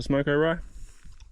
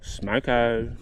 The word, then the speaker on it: smoko: a bad spot for smoke oai no not not at all do I say it wrong you got to say it like this smoko Smo anyway sunning I should